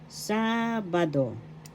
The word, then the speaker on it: Sabado: accentess that's frid in Sabado. Sabado first syllab sa second syllable ba third syllable do the accent is in the first syllable sabado.